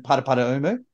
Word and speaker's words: Paraparaumu: So we're in Paraparaumu. That is the correct Māori pronunciation.